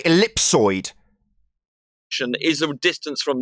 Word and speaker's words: ellipsoid: yeah excuse me thicko you don't even know how to pronounce the word of the model you're referencing and you're going to call me stupid it's an ellipsoid you stupid idiot running around calling it an elliptoid is going to make